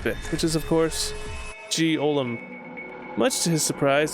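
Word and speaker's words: G-Olm: which is of course G Olam much to his surprise this ends up being pronounced like Gollum anyway on a side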